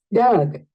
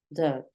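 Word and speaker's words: dug: Entonces, mira acá, es un sonido schwa. Es un sonido schwa. Doug, Doug. Es un poco más suavecito.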